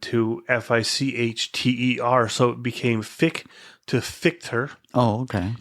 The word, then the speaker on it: Fitch: I chose to go with Gerard Fitch because it's actually pronounced Fick, the old Austrian family name from before my great-grandfather emigrated from Austria to Canada.